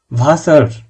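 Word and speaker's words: Wasser: ভাসার অর্থাৎ ওয়াটার বা পানি।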